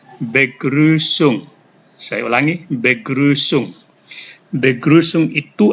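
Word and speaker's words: Begrüßung: namanya s dalam bahasa Jerman itu dibaca seperti Huruf SS maka kata ini dibaca begrusung Saya ulangi begrusung begrusung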